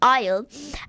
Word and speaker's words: aisle: So I was doing the spelling and it's aisle, and I put aisle SILE, and so I forgot the A because A is silent.